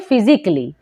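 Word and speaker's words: physically: हो जाएगा साइलेंट तो क्या पढ़ेंगे फिजिकली ठीक है ए को यहां प्रोनाउंस नहीं करेंगे ए हो जाएगा साइलेंट जैसे क्रिटिकली यहां पर भी लास्ट में एल एल वाई है तो ए हो जाएगा साइलेंट तो पढ़ेंगे क्रिटिकली जैसे सर्जिकली यहां पर भी लास्ट में एलएल वाई है तो ए हो जाएगा साइलेंट और पढ़ेंगे सर्जिकली यानी कि लास्ट में अगर एल एल वाई हो तो ए हो जाता है साइलेंट चलिए अब जानते हैं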